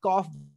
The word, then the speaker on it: calf: L को हम silent कर देंगे और कॉफ बोलेंगे।